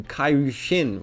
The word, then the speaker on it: Kairyu-Shin: The way this was handled is pretty interesting, as the dub renames it to Kairu Shin, which is how the monster's name is pronounced in Japanese.